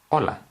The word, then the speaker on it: hola: spelled like that but the H here is silent so rather than saying hola we are saying hola now this is a very